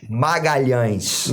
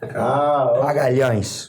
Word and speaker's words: Magalhães: So let's get the official pronunciation. Come on, Professor. Vinny. No. Vinicius Magalhães. God damn. Yeah. Oh, not an L N in it, H is Professor. yeah, like Yama. Magalhães.